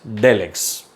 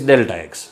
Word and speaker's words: delta x: Very often people pronounce this as del x, but it is delta x.